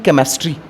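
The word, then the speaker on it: chemistry: कहते हैं केमिस्ट्री तो केमिस्ट्री में आप देख रहे हैं ना सी के बाद एच आ रहा है यहां पर एच जो है महाराज ये साइलेंट है केमिस्ट्री में जो सी के बाद एच आया है ये ए ऑलरेडी आपका साइलेंट है दूसरा एक वर्ड और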